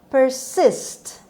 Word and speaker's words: persist: Word number 9: persist. خب هر دو تا اس رو با صدای سه داریم میخونیم همونطور که میبینید و استرس روی second syllable، روی بخش دوم هست.